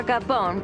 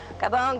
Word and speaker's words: Gabon: name of the country Gabon Gabon who knows some people say Gabon some people say Gabon the French say the bulk so I'm going with the French only I'm adding the end